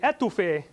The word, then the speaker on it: étouffée: If you put the emphasis on the end of it, étouffée, that's smothering food with a sauce. So don't say étouffée, that's smothering a person, and you can get yourself in trouble.